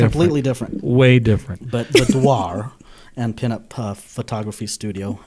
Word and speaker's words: boudoir: I found out the correct way to pronounce it is boudoir. You actually say the R.